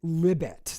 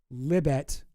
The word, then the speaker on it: Libet: She her name is Libet. That's what people call her. Liet like rhymes with Tibet. Libet.